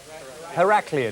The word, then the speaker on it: Heraklion: is it her al Cleon how do you pronounce that one Heraklion isn't in her a clean yes yeah alright